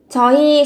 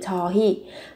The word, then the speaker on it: 저희: ta dùng cái từ 저희. Viết là 흐이 nhưng khi phát âm thì các bạn sẽ phát âm thành y. 저희 có nghĩa là chúng tôi, chúng em, bọn em.